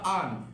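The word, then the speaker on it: earn: তারপর যদি দেখি আমরা আর্ন, আর্ন, আর্ন মানে কি? আয় করা, আর্ন। আমরা হচ্ছে আর এর উচ্চারণ বা রয়ের যে উচ্চারণটা আসে সেটা হচ্ছে আমরা যদি বাদ দিয়ে বলি অ্যাকুরেটলি, তাহলে হবে আর্ন।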